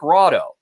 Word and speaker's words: Rahdo: name this halfling cleric rado because it rhymes with frodo so rado is my